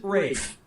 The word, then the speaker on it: Ralph: Yep, Rafe Fiennes' first name is spelled like Ralph, but pronounced Rafe.